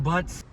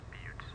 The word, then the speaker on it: Butts: I'm on it, Mr. Butts. Bill, it's pronounced Buttes.